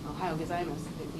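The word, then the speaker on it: おはようございます: saying it correctly, and they know that sometimes the vowels aren't, like in Ohio Gozaimasu, you don't hear that U at the end, but it's there, it's written there.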